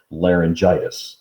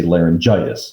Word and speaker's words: laryngitis: for some reason then people put a g in it and they pronounce it laryngitis okay it's actually larynxitis